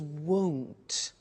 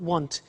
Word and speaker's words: won't: before you heard me with the money is won't be careful with the pronunciation it's not want its world so the example is I won't